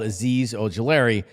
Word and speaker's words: Azeez Ojulari: And then it actually is pronounced the way that it's spelled, Azeez Ojulari.